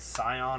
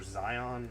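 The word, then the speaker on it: Sion: They created a band called Scion or Zion. I really don't know how you say it, but it's spelled S-I-O-N. Probably Scion.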